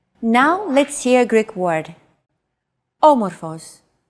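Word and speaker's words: όμως: a language is intonation did you notice the accent mark above the first letter there is only one type of accent mark in modern Greek the acute accent it adds stress to a syllable a stress syllable usually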